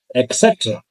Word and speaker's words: etc.: So our last example is the word etc., not etc. It starts with at, not with ek.